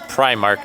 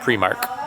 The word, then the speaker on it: Primark: so they just said Prime Mark as they were kind of making their announcement so I do think I'm saying it right Primark not premark time to Trek through